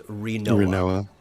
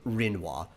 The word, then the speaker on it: Rinoa: It's Rinoa. Rinoa. Not Rinwa.